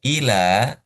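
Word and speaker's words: إلى: nih inih ini Beda kalau illa pakai tasdid kita baca ada ada stressing illa artinya kecuali lailaha illa illallah kecuali Allah. Tapi kalau dibacanya ila tanpa tanpa stressing, tanpa tekanan itu artinya ke ke atau sampai atau menuju ila dengan illa itu beda. Hanya beda tekanan ternyata maknanya juga sangat sangat beda.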